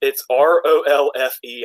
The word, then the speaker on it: Rowlf: It's ROLFE, I think.